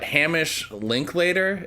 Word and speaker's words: Hamish Linklater: going to mispronounce abut hamish linklater is that how you say that guy's name those are two names that sound like you pronounce them correctly okay so that is